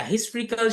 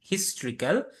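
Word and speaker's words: historical: হিস্টোরি থেকে আসছে হিস্ট্রিক্যাল, উচ্চারণটা হিস্টোরিক্যাল না, কিন্তু হিস্ট্রিক্যাল, হিস্ট্রি থেকে আসছে।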